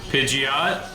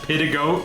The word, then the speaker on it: Pidgeot: Pidgeot. I remember hearing about someone pronouncing it as pidagoat once. And I think about that pronunciation a lot.